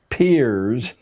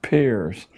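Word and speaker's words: Peirce: philosopher human history is produced he was it's pronounced peers but it's spelled as if it were pierced Charles as peers a strange figure a part-time lecturer at Harvard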